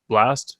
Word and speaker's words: Blxst: and i don't know how to pronounce it blast it's blxst that's all he got